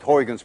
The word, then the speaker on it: Huygens: we now know as hoygan's principle at least you call it huygens principle but we don't call it horrigan's principle you see this sound uy is pronounced in dutch as ou none of you can